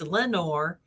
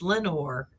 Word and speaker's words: Lenoir: town nearby called um lenoir and it's got the le in front of those words and it's pronounced lenore and so i should just start calling everything nor and because it's lenore and yeah and we